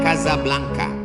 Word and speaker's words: Casablanca: kuliah nama negaranya Maroko ibukotanya tulisannya Casablanca cara bacanya Kasablanka Kaza artinya rumah Blanca